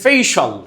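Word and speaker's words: facial: তো মাঝে মাঝে আমরা বলি না your ফেসিয়াল expression is very nice, gorgeous, এরকম বলি না? না, এটা হচ্ছে ভুল উচ্চারণ। এটাকে বলতে হবে ফেশিয়াল।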